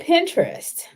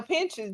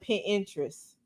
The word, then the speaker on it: Pinterest: on that Pinterest okay my mama call it pin interest oh she put some extra Val syllables in there pin interest yeah P interest yeah